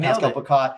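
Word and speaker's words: Pascal Picotte: Pascal Picat? Is that how you say his name? Yeah, you got it. Yeah, you Pascal Picat.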